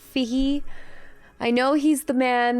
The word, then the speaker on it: Feige: Not Feige, Feige.